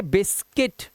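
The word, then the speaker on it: biscuit: ऐसे देखो बिस्किट, यू के बाद क्या है, आई, तो इसे पढ़ते बिस्किट। यहाँ पर देखो ई की आवाज आ रही है, यू की आवाज नहीं आ रही।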